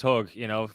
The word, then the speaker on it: Hoge: Usually it's Hoge, for the correct pronunciation.